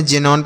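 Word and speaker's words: xenon: देख रहे होंगे कि एक्स का जो उच्चारण है वह ज के रूप में हो रहा है। ठीक है? जैसे हमने इसे पढ़ा जीरक्स। इसे हमने जाइलम पढ़ा। इसे हमने जेनोन पढ़ा।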